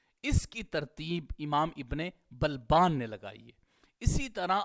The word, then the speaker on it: بلبان: جو لقب ہے ابن بلبان، اس کا جو تلفظ ہے وہ کیا ہے؟ با کے اوپر فتحہ ہے، بفتح البا وسکون اللام، با کے اوپر فتحہ ہے اور لام ساکن ہے، پھر اس کے بعد